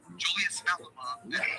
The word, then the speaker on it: Julius Malema: Yeah, but her Julius Malema, that's how you say his name.